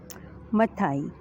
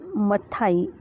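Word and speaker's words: Matthaei: ये जो मथाई है, मैं इसका प्रोनाउंसिएशन ऐसा करती हूँ, लेकिन इसका प्रोनाउंसिएशन मैथी ऐसा भी आप कर सकते हैं, लेकिन ये दो प्रकार का इसका हम इसको प्रोनाउंस कर सकते हैं, मैथाई या फिर मैथी। आपको जो अच्छा लगे वो आप इसको प्रोनाउंस कर सकते हैं, क्योंकि अब ये फॉरेन साइंटिस्ट है।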